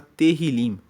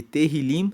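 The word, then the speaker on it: Tehilim: No original hebraico, o livro de Salmos se chama Terilim. Se escreve T E H I L I M e Terrilim significa louvores.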